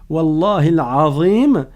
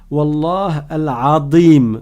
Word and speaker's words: Wallahi al-Azim: et qu'il voulait dire, Wallahi al-Azim, il convient de le prononcer correctement et de ne pas dire Wallah al-Adim. Al-Adim, ça, il y a une transformation d'une lettre et ça n'est pas correct.